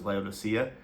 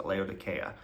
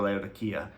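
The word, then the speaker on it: Laodicea: Um and you may have heard it pronounced as Leodysia and but here they pronounce it Leodya or Leodia.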